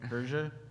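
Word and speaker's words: Hergé: Hersha, and or is that how you pronounce, like the Tintin dude, Hersha? Hersha, yeah.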